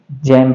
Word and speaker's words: gem: उसी तरह से GEM, इसको क्या पढ़ेंगे? जैम पढ़ेंगे।